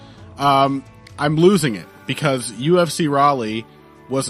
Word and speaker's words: Raleigh: I got I got criticized by the way for mispronouncing Raleigh as rally I don't know that